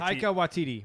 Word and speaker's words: Taika Waititi: We are looking at how to pronounce Taika Waititi. it is white. Taika Waititi.